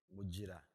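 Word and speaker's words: Mugira: is G not J muira uh yeah you will find it there G pronounced as J uh I do a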